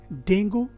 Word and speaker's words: Dengue: तो अब हो गया ये डेंगू, जो इस शब्द का सही प्रोनाउंसिएशन नहीं है। इस शब्द का सही प्रोनाउंसिएशन है डेंगी, डेंगी, डेंगी, डेंगी।